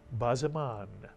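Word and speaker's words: בזמן: The first syllable would simply be ba, mitsuyan. That's a simple ba. And the second syllable would be ziman, mitsuyan, ziman. Not ziman, but ziman. Put the word together, you get Bazaman, mitsuyan, a word you'll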